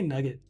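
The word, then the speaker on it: NuGet: You say nugget, which is fine. It's how you pronounce it.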